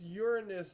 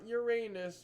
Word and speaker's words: Uranus: It's Uranus, not Uranus. You're not 5. You don't have to say Uranus anymore. You can say it properly like a normal adult.